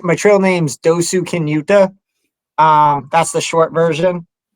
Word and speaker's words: Dosukinuta: uh so it's my name my trail name's dosu kinuta um that's the short version and I got